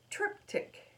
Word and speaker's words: triptych: It's Thursday evening, and tonight we are going to do a triptych.